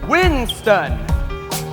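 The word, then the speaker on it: w1n5t0n: I was going by this pronounced wind stunned not w1 + 5 t 0 n unless you're clueless disciplinary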